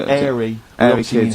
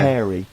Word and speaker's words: hairy: Sorry, I noticed both of you there dropped the H, or the H, or however it's pronounced. I had to. So airy kids, yeah. hairy.